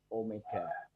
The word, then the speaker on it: Omega: dengan simbol Omega ya ini bacanya bukan W ya tapi Omega yaitu besarnya sudut tempuh